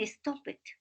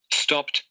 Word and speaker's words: stopped: Y aquí ustedes siempre dicen stop it. Y no es así. Listen the pronunciation. Stopped.